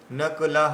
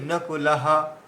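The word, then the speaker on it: নকুলঃ: আনন্তা আনন্তা বিজয় আনতা বিজয়ং রাজা কুন্তি পুত্র যুধিষ্ঠিরহা এখানে আপনি জ বলেছেন যুধিষ্ঠির বলেছেন যুধিষ্ঠিরাহ নকলাহ এইযে নকলাহ এইটা না বলে যদি আমরা বলি নকুলাহা তাহলে সব দীর্ঘ হয়ে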